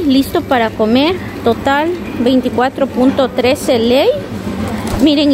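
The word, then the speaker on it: lei: estas fundas a 6.9 Ley Ley a veces yo pronuncio leu pero es ley la moneda rumanas es ley ellos no manejan el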